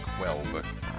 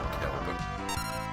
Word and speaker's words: Kelb: the werewolf village of Kelb. Of course, in the newer translations, it's spelled with a Q-U. So many people call it Quelb, but it probably is still Kelb.